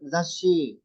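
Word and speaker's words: 雑誌: Pag narinig niyo yung word ng zashi, that is magazine. 雑誌。 So, dalawa po siya. No? May dalawa siya. Double consonant pronunciation siya. Zashi. Isang zas, isang shi.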